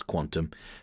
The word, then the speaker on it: qntm: I'll pronounce Quantum.